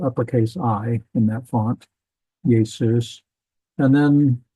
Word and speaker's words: Jesus: Yesus. And then after the letter J was invented, we adopted that in English and changed it to Jesus. But we kind of lost the Yesus sound. It's just Jesus.